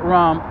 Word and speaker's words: Ram: look at ram aram the indians pronounce it rahm r-a-m-d-a-s-s ram das you go